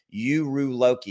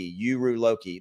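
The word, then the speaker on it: Uruloki: got coming out and it's called and this is a really good hard one to pronounce uru Loki uru Loki that is what how you pronounce this right here it is a new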